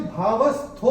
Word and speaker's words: भावस्थः: तो ये जो भावस्थो हमारी किताब में दिख रहा है, पहले और तीसरे चरण की समाप्ति पे ओ आने पर ओ का उच्चारण विसर्ग होता है। तो इसीलिए मैंने भावस्थः ऐसे करके चैंट किया था।